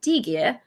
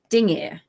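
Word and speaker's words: dingir: so when you say it you don't say D gear you say ding ear which sounds like two syllables so you have done you have done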